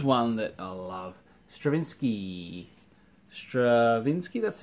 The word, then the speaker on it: Stravinsky: Stravinsky, that's how you say it.